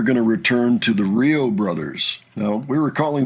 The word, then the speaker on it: REO: Apparently it's pronounced Rio Brothers.